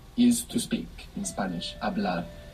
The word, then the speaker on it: hablar: Hablar. It's spelled H-A-B-L-A-R. What's happening with that H? Silent. Silent. Totally silent. Hablar.